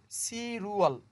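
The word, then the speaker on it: 칠월: তো রিউলটা যদি ইউং এর স্থানে যায়, এটার উচ্চারণ হবে সি রুয়াল, সি রুয়াল মানে জুলাই মাস।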